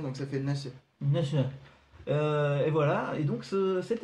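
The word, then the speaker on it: 那須: Et donc c'est l'hôtel Épinard Nasu, j'imagine qu'on dit le U en OU. En fait on le prononce à peine donc ça fait Nassé. Nasu.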